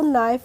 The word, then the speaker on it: knife: तो इसका भी एक रूल होता है, जब भी किसी वर्ड में के बाद एन आता है तो वहाँ पे हम के का प्रोनाउंसिएशन नहीं करते हैं, और इसीलिए हम इसको नाइफ पढ़ते हैं।